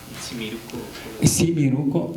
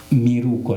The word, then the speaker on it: miruco: Simiruco es una palabra mal pronunciada. Es miruco nada más.